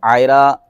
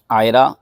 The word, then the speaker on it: عائرہ: تو نہیں ہے۔ تو عائرہ کے دو تلفظ ہیں، ایک الف کے ساتھ اور ایک عین کے ساتھ۔ الف کے ساتھ تو